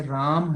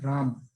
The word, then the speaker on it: राम: तो अगर आप कभी बोलते हैं और राम बोलते हैं, राम, तो आप देखिए आप